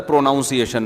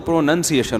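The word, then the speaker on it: pronunciation: उस्ताद ने बताया था प्रोनाउंस एशन ना तो किसी ने बताया प्रोनाउन तो ठीक है प्रोनाउंस एशन जब होगा तो प्रोनंसिएशन होता है तो वह हम तो यहीं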